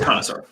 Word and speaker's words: connoisseur: con noise you or if we're gonna pronounce it wrong art connoisseur yeah I think it's connoisseur it is connoisseur I know it's a French word i I was just